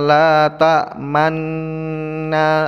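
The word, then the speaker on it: لا تأمنّا: Cara membacanya, qalu ya abana malaka la ta'manna ala Yusuf wa inna lahu lanasihun.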